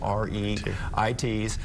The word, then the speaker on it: REIT: estate investment trusts we're known by their initials re it pronounced Reit and these are very